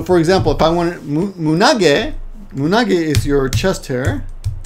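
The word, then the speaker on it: 胸毛: Mune is chest, but when you put these together, these two, chest and hair together, you pronounce it munage.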